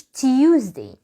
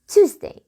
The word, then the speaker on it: Tuesday: اليوم اللي بعد كده ركز فيه شوية، ما اسمهوش Tuesday. ما فيش حاجة اسمها Tuesday. اليو اللي انت بتنطقه ده تنساه، اسمها Tuesday. ايوه زي ما انت سامع كده Tuesday. It's Tuesday. Tuesday.